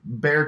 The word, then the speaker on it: Bexar: the know the the bear County that's a hill I will die on though because why would I know that why would I pronounce B exa are as bare it's fine X's are silent